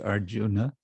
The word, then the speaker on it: Arjuna: pronounced well it depends if you want to be more like sanskrit pronunciation which would be arjuna or you want to